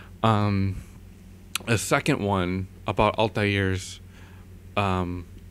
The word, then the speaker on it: Altair: a second one about altairs um actually from what I know is pronounced Altair um you know people pronounced it altairs um due to the immense mispronunciation through the first game and uh um anyway